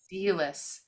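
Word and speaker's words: Selous: How do you pronounce spell? Sealis.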